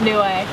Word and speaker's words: Niue: to Nei new way we've been saying newie the whole time but it's new way is it yeah new way that's how the locals say it NE is Newcastle is